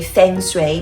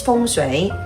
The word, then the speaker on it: feng shui: matches my feng shui, as we like pronounce this in Western way, feng shui, but actually it's feng shui.